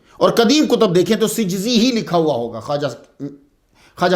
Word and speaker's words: سجزی: تو یہ صحیح تلفظ جو ہے سین جیم زا یہ ہے سجزی. یہ کاتب کی غلطی کی وجہ سے سنجری مشہور ہو گیا.